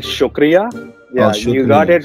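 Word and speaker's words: شکریہ: right go ahead so my second word is shakiria i'm pretty sure i messed that one up but it's essentially supposed to mean thanks okay so it's called shukria yeah you got it right yeah but uh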